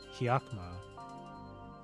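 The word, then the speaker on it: Hakama: how that's pronounced oh apparently it's pronounced as hakma or hakma hakma yaka that's how it's pronounced maybe if I listen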